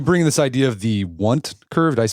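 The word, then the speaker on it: Wundt: And then you bring this idea of the want curve. Did I pronounce that? W U N DT. Yeah, I've been debating how I should be I like should I put on the full Germanic the vaunt curve important.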